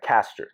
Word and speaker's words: Caster: Caster.